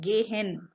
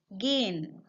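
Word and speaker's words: gehen: here you can see I have not said gay hen H is a little bit silent gein gein to go again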